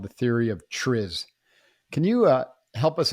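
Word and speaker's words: TRIZ: i z it's called Tris or trees you can pronounce it either way it's a Russian acronym that roughly translates to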